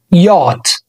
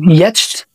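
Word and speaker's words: yacht: كاتب المقطع الصوتي بتاعها وهو يات يات مش بتتنطق ي او يتش لا هي بتتنطق ودي معناها يخت يل ير يت يستردا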